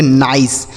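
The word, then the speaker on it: nice: एन आई सी ई, तो एन से नौ, आई का उच्चारण आई, और सी ई से सौ, इसे पढ़ेंगे नाइस।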